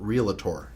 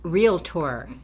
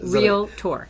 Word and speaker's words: realtor: Is it realtor or is it realator? It is real tour. And if I ever hear you pronounce it the other way, you will be in major pain. And that's a promise. It's absolutely real tour.